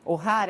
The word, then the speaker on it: O'Hara: E a influencer, a Ingrid O'Hara, é assim que se pronuncia o sobrenome dela?